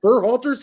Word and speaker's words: Berhalter: Berhalter's gonna get an interview from Matt Crocker.